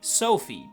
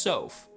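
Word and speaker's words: Sothe: I for the longest time been calling Micaia's best buddy Sophie, but it's actually just Sof. Titania is also not pronounced as I just did it, which I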